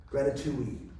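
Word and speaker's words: Grati2we: We have a thing called a gratitude, and it rhymes with ratatouille, and it's spelled Grati, the number 2, we, gratitude.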